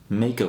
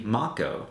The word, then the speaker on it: Mako: pronounced the lifestream of the planet as Mako energy but found out many years later that it's actually Mach Oh so let me know